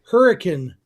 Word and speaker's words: Hurricane: George in Hurricane, Utah. Spelled like hurricane, pronounced like hurricane, for a baseball tournament.